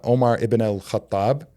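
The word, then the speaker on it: Umar ibn al-Khattab: He was uh Omar Iban al- Kathab is is the way he's uh pronounced in Arabic.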